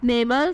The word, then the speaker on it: Naimal: Next नेम इज़ नेमल, spelling है NAIMAL, meaning है खुदा की तरफ से अता किया गया।